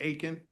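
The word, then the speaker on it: Aiken: Can you also say your name and spell it for the court reporter? Sure. Akin.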